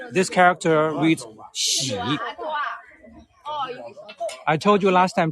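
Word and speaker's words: 囍: the room that is a Double Happiness in pronunciation this character reads she I told you last time Chinese characters are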